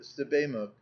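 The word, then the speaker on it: Sebamook: Joe answered Sebaimuk. Tamunt pronounced it Sebaimuk.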